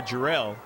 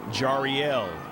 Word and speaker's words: Jariel: Now in their own defensive half, they've got to collect with Sierra Jarrell. And we're going to correct that pronunciation of the last name, Jariel.